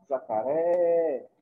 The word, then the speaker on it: jacaré: Isso se chama jacaré. Observem aqui, pessoal, que eu falei por mais tempo por é.